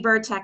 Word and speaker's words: Vercek: It's actually Vercek is how you pronounce it.